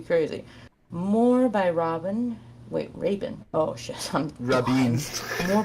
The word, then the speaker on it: Rabin: By the way, it's Yitzhak Rabin is how it's pronounced.